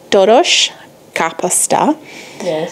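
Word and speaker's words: töltött káposzta: well today we are making and I'm gonna pronounce it in Hungarian it is dodosh car pasta capital means cabbage I don't know what Taurus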